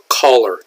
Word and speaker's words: collar: Now, that is pronounced collar. It sounds just like the word caller, like someone who is calling you.